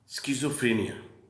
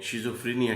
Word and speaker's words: schizophrenia: پر بات کریں گے، اسکیزوفرینیا۔ اسکیزوفرینیا جس کو ہم اپنے عام ایکسنٹ میں پروننسیشن میں شیزوفرینیا کہتے ہیں، دیسی جو ہمارا تلفظ